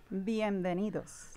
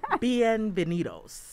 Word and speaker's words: bienvenidos: and has been veneto how do you say that one bienvenidos see i was all wrong bienvenidos very good very good